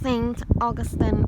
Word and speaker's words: Saint Augustine: to the audio guide I realized I have been sing the name wrong all along and it's Saint Augustine um and I realized